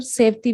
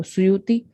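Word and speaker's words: سیوطی: सुयूती रहमतुल्लाह को अक्सर सेवती भी कुछ बाज़ उलमा प्रोनाउंसिएशन इनका इस तरह निकालते अदा करते हैं, तो सुयूती।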